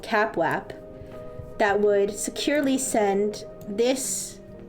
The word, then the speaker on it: CAPWAP: You would send it through a protocol called CapWap. Yes, CapWap. All right. So normally, the normal situation is that you would have, there's a secure protocol called CapWap that would securely send this update, would securely